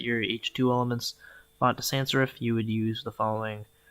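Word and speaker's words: sans-serif: Oh, I think I was pronouncing it wrong. Sans serif is how it's pronounced.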